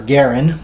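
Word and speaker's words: Garand: uh I have several M1 garans or Garin if you want to pronounce it correctly uh that have the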